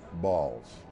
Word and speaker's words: Baals: And he says, I pronounce my name Baals.